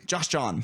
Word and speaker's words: Josh John: Joining with us is Joshua John, or some would say Josh John. That's right. One syllable. One syllable, Josh John.